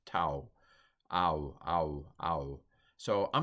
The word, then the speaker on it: tau: I heard one fellow say tav, but I've heard more often that this diphthong is pronounced tau. Ow, ow, ow. So I'm going to go with tau on this one.